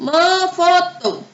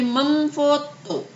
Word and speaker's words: memfoto: Mefoto. Me di sini berubah menjadi mem. Bukan mefoto, tapi karena me-nya berubah menjadi mem, makanya berubah bacanya menjadi memfoto.